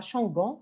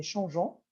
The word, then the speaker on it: changeant: alors nous changeons et attention on ajoute le E pour la prononciation ce n'est pas changant c'est changeant alors nous changeons d vie